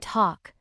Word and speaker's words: talk: The letter L is silent in half, walk, and talk. When it comes before K or F, once you know these